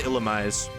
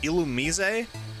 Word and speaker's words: Illumise: Apparently it's pronounced Illumise. I've heard that before. I don't know if I agree. I always just said Illumise. It makes more sense to me. But Illumise, in the show they say Illumise, right?